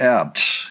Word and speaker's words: Abts: up in Government Mule Matt ABT it's spelled abts anyway he is the